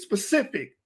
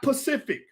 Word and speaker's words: specific: we're not doing it it's specific not pacific we ain't talking about